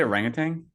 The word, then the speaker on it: orangutan: There's no G at the end of orangutans. It's wild because you pronounce the G.